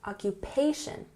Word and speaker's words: occupation: We emphasize the third syllable here, occupation.